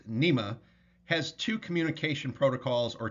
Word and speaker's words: NMEA: NMEA, pronounced NEMA, has two communication protocols or two communication systems that they use aboard commercial and recreational vessels.